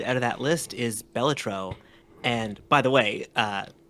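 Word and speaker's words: Balatro: by the way uh beautiful pronunciation on that I've never heard anyone else say it batro before beautiful is that is that wrong no that's correct Wikipedia is correct but everyone I've heard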